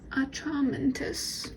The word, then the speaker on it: Atramentus: So it's German. So let's go ahead. Atramentus. Atramentus. Atramentus. Atramentus. Okay, Atramentus. That ink, it's document black.